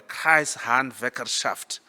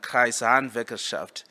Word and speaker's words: Kreishandwerkerschaft: of Germany, I will teach you how to pronounce that word. In Germany, it's called the Kreishandwerkerschaft. It's just 3 words combined, Kreishandwerkerschaft.